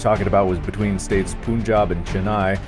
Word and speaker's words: Punjab: states Punjab and Chennai, which is pronounced Pun. Okay, this isn't helpful, this pronunciation. P-U-H-N. I would pronounce that Pun. I would too. Pun, as in the word pun. You don't phonetic it P-U-H-N, and jab, as in boxing jab.